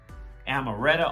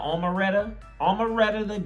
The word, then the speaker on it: Omeretta: this up you heard me amaretta omaretta great sorry not sarah official music video now